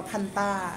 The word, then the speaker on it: Fanta: แฟนต้า แฟนต้า เพราะ ว่า ที่ เกาหลี เขา จะ ออก เสียง ว่า พันตา พันตา อ่ะ พาต้า ก พ้า ตอน